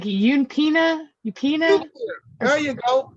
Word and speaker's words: eupnea: Isn't it pronounced like Eupina? Eupina? There you go. Eupnea.